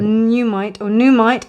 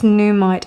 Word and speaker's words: Nuumite: Now, with this Nuumite heart, or Nuumite, I think it's Nuumite as an N-O-O, and it's N-U-U, but pronounced N-O-O. Nuumite is a stone that comes from Greenland.